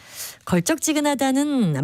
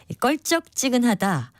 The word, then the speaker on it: 걸쩍지근하다: 걸쩍지근하다는 말 따위가 다소 거리낌이 없고 푸지다라는 뜻입니다. 껄쩍지근하다, 첫 음절을 된소리로 발음하는 것을 많이 들어보셨을 텐데요. 맞는 것은 예사소리로 쓰고 그렇게 발음하는 걸쩍지근하다가 맞는 표현입니다.